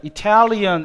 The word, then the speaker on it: Italian: 자, Italian 액센트가 유음절로 넘어가죠.